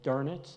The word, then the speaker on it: Dönitz: And the mastermind was Admiral Dönitz, is the way you pronounce his name.